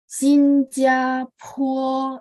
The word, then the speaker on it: 新加坡: Sinjapo, ingat PO bacanya PHUO ya, biar bagus.